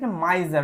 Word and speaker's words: miser: কিন্তু জ এর মতো হয় তো কারণে এটার উচ্চারণটা মাইজার মাইজার কথার অর্থ হচ্ছে কৃপণ তাহলে একজন কৃপণ